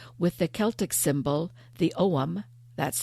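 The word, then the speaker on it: ogham: an othing stone with the Celtic symbol the OM that's spelled o g h a m o m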